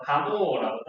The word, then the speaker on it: 가모프: 자, 이건 가모프의 주장이에요. 혹은 뭐 풀을 묵음 처리해서 가모라고도 합니다.